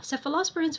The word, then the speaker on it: cephalosporin: to sefalosporin sefalosporin uh one way to remember them is that they would start with seph like a cph or a CF I mean they're pronounced the same they're both seph so sephos parins now